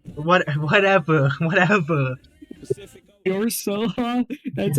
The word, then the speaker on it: Ursula: like little mermaid villain it's pronounced Ursula not what whatever whatever Ursula.